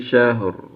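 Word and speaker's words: شهر: Roknya tebal ya. Karena apa? Karena sebelumnya sukun, sebelumnya fathah ya. Syahr. Pastikan roknya tebal dan haknya tipis. Shinnya juga huruf tipis ini ya. Syahr. Ya. Latinnya syahr.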